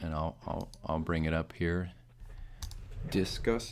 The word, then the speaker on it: Disqus: Discuss is spelled DISQUS, and it's the best.